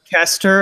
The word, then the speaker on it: Keister: Kester, apparently. I was the one who said Keister. Sith would Keister. The way it's spelled, I want to say Keister sometimes. Yeah, but like if you replace it with a CH, it's not Chester, it's Chester.